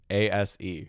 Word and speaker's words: ASE: got an ascert how do you say it a-s-e ASE explain what that is I'm not it's